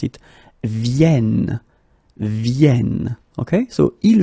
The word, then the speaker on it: viennent: And that's the reason why you should pronounce it vienne, vienne. Okay, so ils viennent, elles viennent.